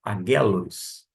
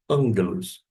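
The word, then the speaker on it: ἄγγελος: A palavra ângelos, se fosse ler, com dois G seria aguelos. Mas uma questão de eufonia, a gente trabalha como ângelos.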